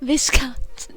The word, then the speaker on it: Viscount: Viscount.